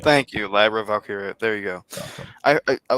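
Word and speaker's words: Valkyria: her name blinking on me right now Lyra valky thank you Lyra valkira there you go I I was trying to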